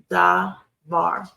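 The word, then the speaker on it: דבר: This word devar is 2 syllables. The last syllable is accented, and the changeable vowel in the pretonic is changeable.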